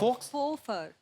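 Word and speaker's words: faux: x what is that x को pronounce ही नहीं करते हैं फफर फफर फफ फफर तो एक्स नाम नहीं लेना उसका साइलेंट है वो मतलब मतलब नकली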